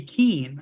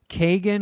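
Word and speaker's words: Keoghan: to say his name it's k-e-o-g-h-a-n and I think it's pronounced Keen like my brother told me it Keane said that I've always said like Kagan or Keegan but that was just a guess yeah like Brendan Gleason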